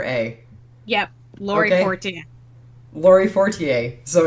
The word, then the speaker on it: Laurie Fortier: letter a yep laurie laurie fortier so exactly the way that we were pronouncing it yep very good so